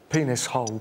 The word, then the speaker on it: Penicillin: is your name penicillin well it's pronounced penis hole but yes it is truth